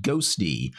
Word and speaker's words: Ghostty: a look at this new terminal application called ghosty and I've got to say playing around with